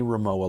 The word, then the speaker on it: Rimowa: How do I pronounce it again? I know you had to tell me this. Rimowa? I believe Rimowa.